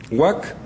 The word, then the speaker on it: Waka': Ahora, en el caso del Perú, nosotros sabemos que se lee huac porque aparece sustituido muchas veces por la sílaba gua y por la sílaba ca para rendir la palabra huac.